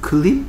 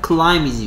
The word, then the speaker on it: climb: 그래서 1번 클림? 이걸 아직도 클림이라고 읽냐 이놈 시키야? 클라임이지 인마. I am too tired to climb up the mountain.